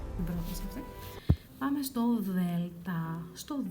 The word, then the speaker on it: Δ: Λοιπόν, Δ. Ε, not like D. It's not like door. It's a soft sound sticking your tong out a bit.